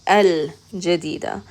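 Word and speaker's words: الجديدة: Whereas over here, jim, we're pronouncing it al-jadida.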